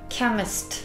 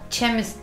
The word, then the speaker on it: chemist: Chemist arkadaşlar, chemist diye çok yanlış edilen telaffuz chemist'tir ama chemist değildir o nedir?